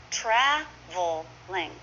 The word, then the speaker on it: traveling: Traveling is often traveling. 2 syllables.